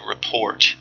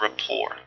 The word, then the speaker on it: rapport: And and remember that the the T at the end of this word is not pronounced. I believe that this is a French word. Um, but uh it don't say report because that sounds too much like report or report.